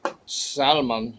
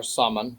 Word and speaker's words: salmon: watercolor are pink sherbert salmon or salmon salmon salmon i think the hill is silent i think i don't